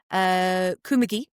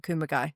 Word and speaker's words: Kumagai: Kumagai was a mix of, hang on, I've wrote them down phonetically. Kumagi. Oh, nice. Kumagai. Like very overpronounced. And then I think once they said Kumagai, which was quite nice.